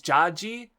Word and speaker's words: Judge: the wordplay doesn't translate, it's pronounced in Japanese Jaji, so like it rhymes with Sanji and with all of his sons' names.